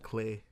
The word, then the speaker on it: clefs: And clay. That's how they pronounce it, which is weird because the F is silent.